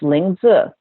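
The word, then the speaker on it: lingzhi: is the it's l i n g zhi pronounced lingu that's the Mandarin version of the herb this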